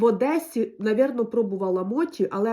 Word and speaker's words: моті: кажіть правильно виправляйте мене пишеться мочі не дуже приятна да читається Ну у нас всі називають це Моті традиційний японський десерт тістечка Моті хоча пишеться мочі так в общем купила